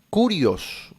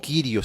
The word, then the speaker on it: Kyrios: Curios o Kyrios si quieres, porque no hay forma de saber cuál era la pronunciación correcta, ¿no?